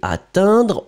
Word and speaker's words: atteindre: Et atteindre, on prononce de la même façon, non monsieur. Prenons une minute Sundar, relaxons-nous, concentrons-nous. Vous m'avez écrit attendre, E-N. Écoutez le son.